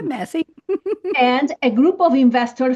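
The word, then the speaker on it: Massey: Jack Massie or Messi or however you pronounce it. Yeah, Massie.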